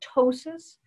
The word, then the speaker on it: ptosis: you start to get what's called ptosis spelled with the silent p just like why you can't hear a pterodactyl in the bathroom right sorry the p is silent that's my favorite joke